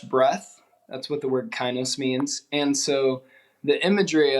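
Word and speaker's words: kainos: funny is this design it's pronounced kinos k-a-i-n-o-s it's a Greek word and it has to do with it means New Life in Greek for fresh breath that's what the word kinos means and so the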